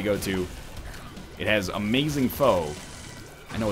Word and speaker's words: pho: This one restaurant we go to, it has amazing pho. I know it's pronounced pho, but whatever, okay?